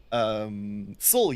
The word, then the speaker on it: SOL: But there's also soul units, uh, which is spelled SOL, but is actually in